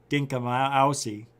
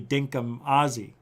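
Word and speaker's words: dinkum Aussie: here every single day saying dinka my aussie when it should be dinkum ozzy now i know now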